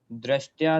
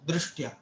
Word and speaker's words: दृष्ट्या: दृष्टया, दृष्टया, वो टा का उच्चारण भी आधा ही करना है।